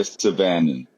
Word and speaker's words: Syvanen: What's What's the correct pronunciation? Okay, no worries. Uh, Saban.